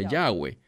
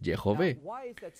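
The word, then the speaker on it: יהוה: nombre sagrado de dios que apropiadamente se pronunciaría como de jove o lo que erradamente la gente que no habla hebreo pronuncia yagüe no es yagüe es de jove porque eso es tan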